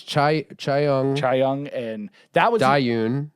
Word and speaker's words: Chaeyoung: Jaeyoung. Is it Jaeyoung? Jaeyoon? J Because it's Chaeyoung.